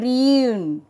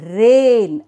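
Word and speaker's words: reign: g n rain ok it is not rin it is rain r e i g n rain ok let us see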